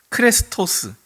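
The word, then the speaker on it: χρηστός: 크레스토에 우리 뭐 자동차 중에 크레도스라는 자동차가 있었잖아요. 발음이 좀 비슷합니다.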